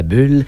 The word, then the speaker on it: Bulles: Est-ce qu'on dit la Chute à Bulles, la Chute à Boules? On s'entend pas là-dessus. Ben moi, je l'ai tout le temps dit Chute à Bulles, mais ça s'écrit comme boule, okay.